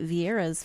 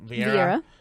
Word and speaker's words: Vieira: So that would actually be Vieira's first loss because she's 7-0.